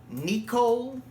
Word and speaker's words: Nicol: I think his name is Nicole. It's spelled Nicol. I think it's pronounced Nicole Williamson.